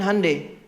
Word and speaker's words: Hyundai: Makanya Jepang bikin Honda, Korea bikin Hyundai. Betul, Hyundai itu pengucapannya, Hyundai tulisannya. Ya.